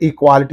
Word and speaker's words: equality: And equality is there, okay. The suffix is in these two syllables, therefore what is the syllable preceding the suffix means? Qua. Equality. Equality, right.